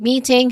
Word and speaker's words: meeting: it's still awah sound meeting has a stress on the first syllable with a long e sound.